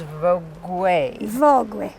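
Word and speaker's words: Vogüé: The name of the town you have taught me is Vogue. Vogue. Spelled like the magazine, but nothing to do with it.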